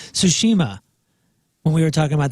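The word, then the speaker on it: Tsushima: I'm a smoker oh the ghost of tushy man was Jeff Burton mispronouncing the game Ghost of sushima when we were talking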